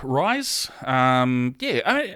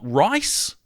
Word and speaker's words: Ruys: Brett Ruys. Interesting, he said. Not rice or Reese, which is what I actually thought it had been for a number of years, but he said rhymes with guys.